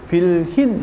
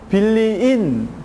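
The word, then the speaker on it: bilhin: 그래서 빌리인 같은 경우에는 이렇게 쓰지 않고요, 빌힌 이렇게 됩니다.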